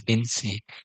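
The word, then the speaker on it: อินทรีย์: Indriya in Pali, Insi in Thai, we pronounce it as Insi.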